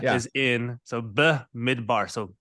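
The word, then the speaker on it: במדבר: refine yep so going in I maybe I mispronounced this but bonab bar and that is the meaning idar so say it correctly for us B midbar B is in so B midbar so b midbar b midbar cool so midar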